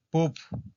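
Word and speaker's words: pub: Esa palabra que es poop, que empieza con P. Bueno, la del letreo es P-U-B, poop, que es como un antro, ¿verdad?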